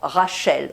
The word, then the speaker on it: Rachel: We pronounced Rashel, but wrote Rachel.